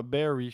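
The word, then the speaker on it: Barre: Tu penses que c'est Bar? Ouais, je sais pas, Barry, je pense. Barrie, ouais. C'est plus ça, en tout cas.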